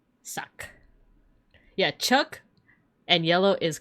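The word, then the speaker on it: sak: This is the glyph for black and it's pronounced. That's I k apostrophe. And this is the glyph for white and it's sock. S A K suck.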